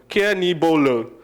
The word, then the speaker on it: Kenigbolo: difficult to pronounce but it's very easy care when you care for someone and knee your knee and then when you blow someone and then when you go low so care knee bolo that's basically how my name is pronounced but of course you